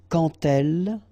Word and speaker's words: quand elle: So like that, quand elle, all right, same rule here. Remember, when you will have this d, you will phonetically pronounce it like t.